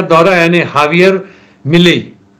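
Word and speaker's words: Javier: राष्ट्रपति का दौरा, यानी हावियर मिलेई, लिखते हैं जे से लेकिन उच्चारण हावियर है, दक्षिण अमेरिका का ये है।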